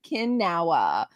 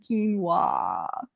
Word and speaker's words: quinoa: I used to call it Kinawa, right? Until a coworker told me how to say it. And again, phonetic is my friend. Quinoa.